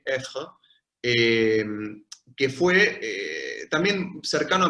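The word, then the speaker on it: Ayfre: Pero después sí tenemos algunos pensadores que sí eran ellos mismos fenomenólogos, como por ejemplo, diría principalmente Amédée Effre, que se escribe A-Y-F-R-E, Effre, que fue también cercano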